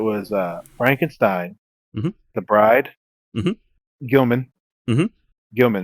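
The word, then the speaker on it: Gill-man: uh Frankenstein Dracula the Bride of Frankenstein and Gilman aka the Creature from the Black Lagoon those are all be purchased by my wife immediately and it's pronounced Gilman excuse yes Mr Gilman I I assumed because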